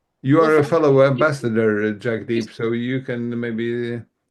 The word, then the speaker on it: Jagdeep: We need to test the pronunciation of everybody's names. Jack Deep, is that correct?